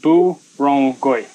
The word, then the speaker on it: Burrungkuy: the viewing platform for, is actually called, pronounced Burrungkuy, and the lower area is pronounced Anbangbang.